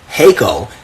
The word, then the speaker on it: Jaco: It's actually pronounced Jaco, as if it was like Jalisco, and with the silent or the H sounding J, right?